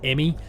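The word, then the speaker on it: E.M.M.I.: in in their place we're sending the emmy first pronounced emmy um things don't quite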